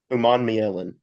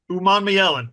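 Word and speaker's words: Umanmielen: I've never been able to pronounce this. Uman Mielen. Uman Mielen.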